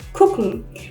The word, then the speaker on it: gucken: Okay, if you said gucken, that would be wrong. It is gucken. So the G is actually pronounced like a K in this case.